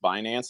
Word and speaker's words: Binance: also so you don't catch Flack it's actually pronounced binance I don't care okay it sounds funny you